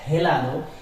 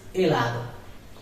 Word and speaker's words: helado: It will never be pronounced, but it may exist in the word. For example, helado. It is not helado, it is helado.